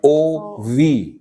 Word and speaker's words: of: actually, when you see what happens, they say the Prime Minister of India, India, OV is the pronunciation of OF.